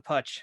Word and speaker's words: Putch: Look, my side of the family, we pronounce it Putch, but my Pittsburgh relatives, they all say Putch, which I don't understand because it's an Italian derivation. The name was Pucci originally, and it was changed